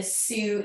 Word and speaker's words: Sioux: So Sioux is spelled like the Sioux Indigenous people. Sioux.